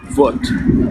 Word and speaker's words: Вот: Alors là, attention, parce qu'il s'écrit comme notre B. D'accord? Le B, il se prononce V. Donc on va le retrouver par exemple dans le mot vote, Вот.